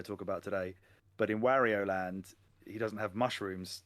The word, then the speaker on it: Wario: game created in japan you pronounce it how the japanese would pronounce it so his name is not wario and it never will be wario because that's not how japanese people would say so his name is